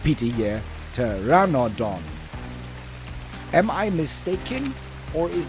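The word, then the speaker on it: Pteranodon: It's a PT and a P is silent. So it's a T.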